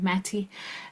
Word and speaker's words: Matty: my name is Matty it's kind of pronounced like Katie but with the m Matty and um I work